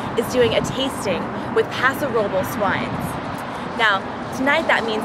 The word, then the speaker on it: Paso Robles: When I first read the word Paso Robles, my 8 years of Spanish teaching taught me that it should be pronounced Paso Robles. That was when I actually went to Paso Robles, and all the locals there looked at me like I was a total freaking wine blonde for pronouncing it Paso Robles.